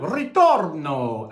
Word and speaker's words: Ritorno: this year this is ritono ritorno as it's pronounced in italian and the no trans